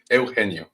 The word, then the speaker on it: Eugenio: Eugenio is the right way to say it.